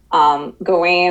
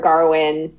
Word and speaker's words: Gawain: really sells Gawain or Garwin. It's Arthurian English. Well, what's funny is that the characters pronounce it different ways too. King Arthur says Garwin, and most other people say Gawain in the movie.